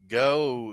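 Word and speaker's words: Geaux: uh get some sleep go is that spelled g e a x how they spell it down there LS you talk about them LSU Tiger supposed to say g e a x that's way they say it down there and oh Hy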